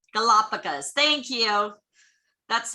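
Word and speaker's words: Galápagos: okay thank you now i think it's pronounced galapagos galapagos thank you that's like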